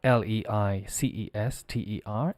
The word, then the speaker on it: Leicester: And the pronunciation of Leicester is Leicester.